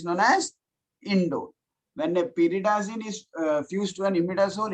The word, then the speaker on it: pyridazine: Can you pronounce it for me? Pyridazine. Pyridazine.